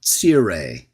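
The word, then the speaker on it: tsere: has the vowel points that we call a tsire. It's spelled in English T-S-E-R-E.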